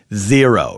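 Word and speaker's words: Xero: you'll thank me later zero it's spelled different x e r o do you know what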